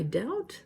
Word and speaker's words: doubt: my portuguese learning okay i hear so many people trying to say doubt that's not how it said that be has no sound in this